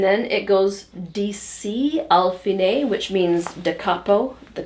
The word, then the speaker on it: fine: the A part, has the word fine, which is the Italian pronunciation, meaning finish, the end.